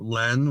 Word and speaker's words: Lens: I said Lens and it's Len.